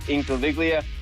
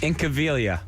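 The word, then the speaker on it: Incaviglia: teams it was pete incoviglia and milt thompson so they signed those two wait say that say pete's last name again i think of incoviglia in cavalia there's the g is silent in cabelia yep try again inky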